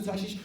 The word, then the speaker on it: Tarshish: That's a correct pronunciation. Eh? Yeah, Tarshish. It's like I'm going to Tarshish.